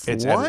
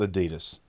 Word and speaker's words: Adidas: And and so yeah, Adidas. That's how you say it. It's Adidas. It's not Adidas.